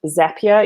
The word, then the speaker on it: Zapier: Believe it or not, it's pronounced Zapier, even though it is spelt Zapier.